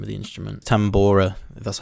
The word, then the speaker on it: tambora: uh what was the name of the instrument tambora that's how you say it just simple